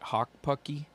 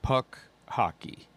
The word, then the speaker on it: Puck Hockey: Hawk Pucky. No, but I like the name. Yeah, I'm sorry. I said it wrong. Puck Hockey.